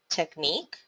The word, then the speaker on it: technique: tech nick two syllables primary syllable stress is on nick and the secondary syllable stress is on tech so how to pronounce this word technique technique television how many